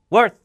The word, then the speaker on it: worth: worth 자 바람이가 아니라 worth 해서 혀를 막판에 물어 주면서 공기를 막으세요 worth 그러니까 한번 끊기겠구나